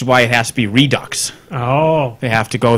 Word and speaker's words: Redux: I think it should be pronounced Redo. I think the X should be silent, but apparently it's Redux.